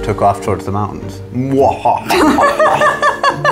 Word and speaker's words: Mahua: Moha. That's how you pronounce it. That's better than Mahuha.